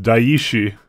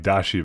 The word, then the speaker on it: Daishi: Alright, so it's pronounced Daishi. I like Dashi better.